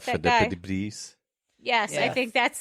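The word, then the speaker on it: Philippides: Philippidis? Yes, I Yeah. think that's the correct I pronunciation.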